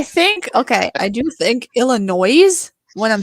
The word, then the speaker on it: Illinois: okay I do think Illinois when I'm spelling it I say Illinois not noise but I do think Illinois when I spell it yes go oh my